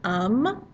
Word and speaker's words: homme: You'll notice it's got that silent H at the start of the word. Anytime you have a word initial H, it's going to be a silent H unless it's aspirated, and we hardly ever see that.